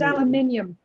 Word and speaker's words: aluminium: It's pronounced aluminium. There's an I.